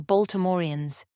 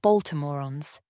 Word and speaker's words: Baltimoreans: We were Baltimoreans, those of us who hailed from the city of Baltimore, with an acute accent on the E, not Baltimoreans.